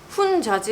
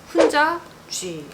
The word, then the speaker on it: Hunza G: 이름이 좀 거시기 한데 훈자지라는 발음을 좀 잘해야 될 거예요. 이걸 좀 띄어쓰기를 잘해야 될 것 같아요. 훈자지 이렇게 읽으면 안 되고 훈자쥐.